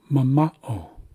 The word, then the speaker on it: mama'o: Because this syllable in the middle is being stressed. It's got an acute accent, so we're placing emphasis on the second syllable.